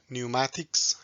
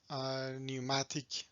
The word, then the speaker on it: pneumatic: transmit force and energy so in different languages you might pronounce it differently in some languages they pronounce p at the beginning but in british and american pronunciation that p is silent five basic components of